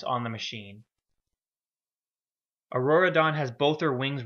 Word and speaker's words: Aurora: If I ever say Auradon, I mean Aurora.